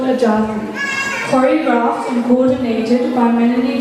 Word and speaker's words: Jati: Jati in Bharatanatyam, pronounced with a small a, are Sulu Keptu, used to count rhythmic patterns in Indian classical dance.